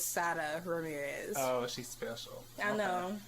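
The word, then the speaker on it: Sara Ramirez: i can't pronounce it i guess it looks like sarah ramirez but it's sada ramirez oh she's special i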